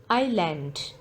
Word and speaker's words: island: in this word no island the letter s is silent in this word i land honor the